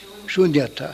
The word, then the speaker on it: Shunyata: What is the correct pronunciation of the concept Sunyata? Shunyata. Shunyata. Shunyata.